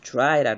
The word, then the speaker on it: dry: 그러니까 영어 발음은 드라이라고 하지 않고 dry라고 그러죠.